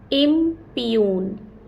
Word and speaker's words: impugn: impune, impune, and not impugn, because G is silent in word impune.